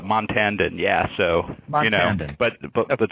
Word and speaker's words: Montandon: or question for Mac montandon am I am I pronouncing your last name correctly um you just got closer I think the the first time was a little off but uh montandon yeah so but but